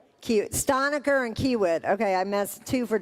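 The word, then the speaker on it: Kiewit: Curtis Stainer is solutions architect information architect manager at uh Kiwi Technology Group. Did I say that wrong? How do you say it? Stoniker and Kiwit.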